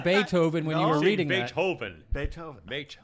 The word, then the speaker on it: Beethoven: It's a children's book about Beethoven.